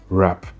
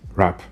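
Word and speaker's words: wrap: Donc vous ne prendraz jamais la peine de dire wrong wrist wap. Ça sera wrong wrist rap.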